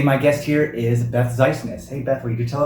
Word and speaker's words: Ziesenis: Ziesenis. Ziesenis. Kind of like you're sneezing. Ziesenis.